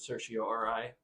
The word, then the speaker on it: certiorari: In a court, you would usually pronounce it certiorari. Certiorari is another way of you can pronounce it.